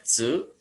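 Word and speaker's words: つ: Ini huruf latinnya boleh tu saja, tu, atau tsu, tsu, atau t aksen u. Dibacanya tsu. Ini cara bacanya tsu.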